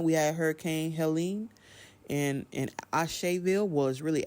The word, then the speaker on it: Asheville: of North Carolina, we had Hurricane Helene, and Asheville was really Asheville, but it's spelled like Ashe, like one way you would